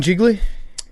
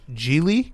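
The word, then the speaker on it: Gigli: Have you seen Jiggly? It's wonderful. It's pronounced Geely.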